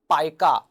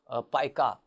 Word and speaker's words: pica: an interesting condition it is referred to as pica that's how it's pronounced pronounced pica when some persons may have the tendency to